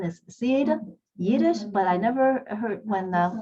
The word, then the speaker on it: Sid Yiddish: name correctly yes uh it is sid yiddish uh some people call me siddish but um sid is just fine okay i just saw